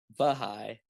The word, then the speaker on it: Baha'i: Like, it's a very how do you inclusive spell it? faith. Bohai? Like Huh? how do you spell Bohai? Baha'i, Bahai, B-A.